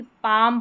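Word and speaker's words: palm: कॉम और यहां पर देखें इसको जो है एल और एम आता है। इसमें भी म साउंड रहता है क्योंकि पाम पढ़ा जाता है। यहां पर म का साउंड तो आ रहा है म। यानी म का एम का साउंड तो म आ रहा है लेकिन एल यहां पर भी क्या है? साइलेंट है। जैसे कि कॉम में बी साइलेंट है और पाम में एल साइलेंट है।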